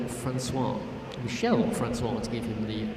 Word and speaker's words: Michel: ve and his opponent from France will be Michael franois Michelle Fran to give him the correct pronunciation and his franois on the outside Jim